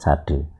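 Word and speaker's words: tsade: kan, tadi S, sedekah, S nya itu TS, sade. Kalau dalam transliterasi Latin ya dituliskan biasa TS, tapi tetap bacanya ya kayak S gitu. Cuman suaranya agak beda, bukan S biasa, sade. Jadi kayak ada ngesesnya suara tenggorokan gitu ya, sade, sedekah.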